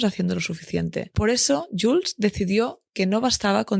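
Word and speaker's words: Joolz: a descubrir más sobre Jules. Se escribe J O o O L Z.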